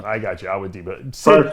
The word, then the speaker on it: Awodibu: Awodibu. I got you, Awodibu. Sid pronounces your name right all the time on our show.